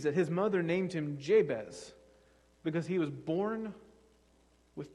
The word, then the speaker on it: Jabez: his mother named him jabez because he was born with pain born in pain and what we have in jabez in english is in hebrew pronounced more like yabbets or yabates i'm going to keep